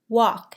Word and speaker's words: walk: Walk has a silent L.